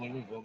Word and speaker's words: Louisville: It's actually Louisville. How it's spelled, Louisville.